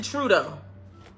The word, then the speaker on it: Trudeau: Justin Trudeau. Okay, that's how you pronounce it.